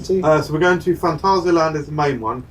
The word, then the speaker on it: Phantasialand: So we're going to Phantasialand is the main one. It's fucking incredible. You can pronounce it in the German fashion. Phantasialand.